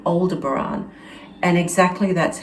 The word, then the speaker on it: Aldebaran: on some of the live streams they also pronounce it aldebaran so that gave me that gave credence to